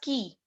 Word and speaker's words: qui: QUI is pronounced as key.